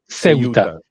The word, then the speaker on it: Ceuta: How do you pronounce it? Ceuta.